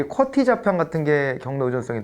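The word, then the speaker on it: QWERTY: 아마 크리터 있어서의 쿼티 즉 지금은 쿼티 라고 읽어 줘 어 그래 가지고 여기에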